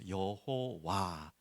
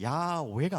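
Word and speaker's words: 야훼: 여호와. 정확한 발음으로는 야오회가 맞다고 합니다. 하지만 야외보다 우리가 여호와라는 단어를 더 많이 알고 있기 때문에 여러분 기억하시면 좋겠고요.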